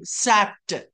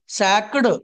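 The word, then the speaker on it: sacked: సికే ఇడి సాక్ట్ సాక్ట్ ఎలా చెప్పాలండి ఎప్పుడైనా కా శబ్దంతో ఎండ్ అయితే ఇడి ని కాలా చెప్తామండి కుక్ సి ఓ okay cook కుక్డ్ కుక్డ్ LO okay look L ఓ ఓకే ఇడి looked like liked walk వాక్డ్ took టోక్డ్ ఆస్క్డ్ ఆస్క్డ్ leak లీక్డ్ సో ఇక్కడ ఇక్కడఏంటి సాక్ క తో క శబ్దంతో ఎండ్ అయింది సాక్ట్ సాక్డ్ కాదు సాక్ట్ సాక్ సాక్ట్ సాక్ట్ తీసివేయు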